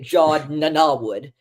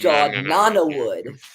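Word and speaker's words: Jod Na Nawood: mostly it was fun we were pronouncing it J nanwood it's j Nana wood uh which I'm glad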